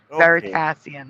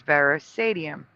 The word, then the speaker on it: Veritasium: s i u m veritasium that's what it is and he remembers ver sadium or sadium I don't know how he pronounced it yeah yeah it's just literally flipping the word sat and pass okay yeah the state